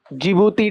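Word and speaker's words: Djibouti: country जिबूती lake असाल जिबूती D silent रहता है कंट्री का नाम क्या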